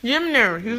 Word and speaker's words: Yimner: Okay, yeah, Yimner. Yimner's gonna be our guest. Yimner? That's my stage name. Yimner. So I just want to pronounce it like Yimner.